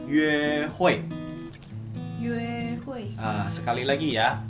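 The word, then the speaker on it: 约会: Nah, tadi kencan itu kita bacanya yue hui.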